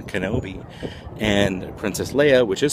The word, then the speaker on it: Kenobi: It's not K-I-N-O-B-E, if you can see back there. It's not Kinobe. It should be K-E-N-O-B-I, like Obi-Wan Kenobe.